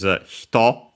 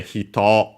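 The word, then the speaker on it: 人: Yeah, no, not the hito unaccented, which means person, with the kanji of person I've mentioned. Now we can see it again. This one, hito, technically on its own, accented on the last syllable, so there's also the difference in accent.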